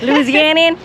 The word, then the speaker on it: Louisianan: Louisianian? Louisianan.